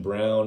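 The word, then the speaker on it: Braun: a game all right that's okay ibaji christian brown it's spelled brawn but they pronounce it brown dejuan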